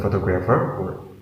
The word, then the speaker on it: photographer: a photograph photograph photograph the second example is photographer there are four syllables in photographer and we put the stress in the second level so say photographer photographer photographer the third example is